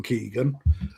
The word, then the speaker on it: Kigen: It's actually KiGen, as in Kevin Keegan. There you go, just to prove I read your email. Yeah. Yeah, so everyone remember it's Keegan, and we're gonna deep